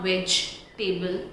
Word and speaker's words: vegetable: Yes, it's not vegetable, it's not vegetable, it's vegetable.